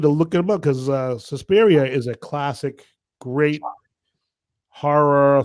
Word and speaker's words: Suspiria: He brought us Deep Red, Suspiria.